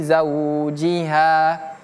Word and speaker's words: zaujiha: Alla quulallati tujadiluka fi zaujiha. Tujadiluka fi zaujiha. 1 2 3. Tujiluka fi zaujiha. Ini huruf zai zau zau seperti huruf z dalam bahasa Indonesia.